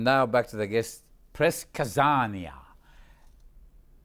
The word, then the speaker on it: предсказание: And now back to the guest, Press Kazania. A good pronunciation of предсказание, prediction.